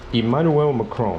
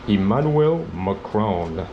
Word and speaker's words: Emmanuel Macron: Emmanuel Macron, c'est comme ça qu'on prononce ici. Emmanuel Macron.